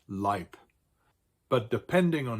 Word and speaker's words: Leib: or E-I in it, and they're always pronounced like an I. And here are some examples. Der Leib, der Mai. Das Ei, der Leib. So these two words are both pronounced Leib, but depending on how